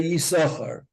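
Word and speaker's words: יששכר: We don't say Yisachar, but we say Yisachar because it doesn't have any Nakuda. So we only pronounce the one that has the Nakuda, Yisachar.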